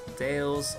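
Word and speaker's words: Dalles: canyon with rapids and is pronounced like dales. All right, the the dales is also the last stop in Oregon Trail.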